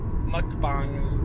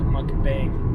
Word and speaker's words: mukbang: our new channel dedication book bang so you pronounced that right mukbang what I've also heard I've only heard white people call it monkey bay please please cut so right before we started